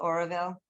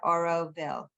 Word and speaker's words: Auroville: It's called Oroville, but they also do and make some beautiful things.